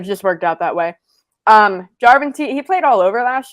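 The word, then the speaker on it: Järventie: So these Finns, the first one, they got a winger, Emil Jarventie? No, it's Jarventie. Emphasis on the first syllable in Finnish.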